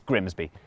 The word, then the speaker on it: Grimsby: But what if we told you it was pronounced Grimmies? We'd be lying, it's Grimsby.